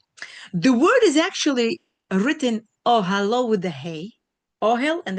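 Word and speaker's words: אהלה: It says that we pronounce the word ohalo as with the hey at the end, as if it were written with a vav at the end of the word ohalo vav, his tent.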